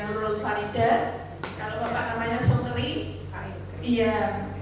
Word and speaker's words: Sukri: Kalau Bapak namanya Sukri, iya, tulisannya SOKERI Bu. Sukri. Iya, bacanya Sukri, jangan Sukeri Bu. Sukri, ya kan ada baca itu kan ada yang dibaca ada yang dibaca nah ini bacanya Sukri ya.